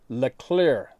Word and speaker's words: Le Clerc: northeast washington state called le clerc creek pronounced le clear le clear creek this